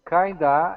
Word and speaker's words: kinda: And because of stress, the of does not get pronounced fully or really at all. So kind of sounds like kinda.